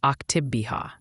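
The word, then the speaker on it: Oktibbeha: If you're in Starkville, Mississippi, you'd likely pronounce it Octibbeha. So Octibbeha County would be Octibbeha County.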